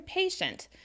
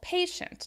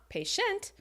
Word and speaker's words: patient: it should be University what about patient right he's very patient you have stressed that first syllable patient not patient let's talk about other words